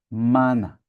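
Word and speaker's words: μάννα: Veja que mana quer dizer maná, mas para nós o acento tá na última, não é? Ela é oxítona. Maná. Para eles, o acento tá na penúltima sílaba, então eles não falam maná, mas mana.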